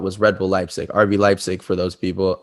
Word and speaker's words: Leipzig: Red Bull Leipzig, RB Leipzig for those people, RB Leipzig for the Germans. I have to say it properly because I lived there.